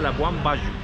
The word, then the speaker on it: Labuan Bajo: Labuan Bajo se llama, se escribe Labuan Bajo, se pronuncia Labuan Bajo.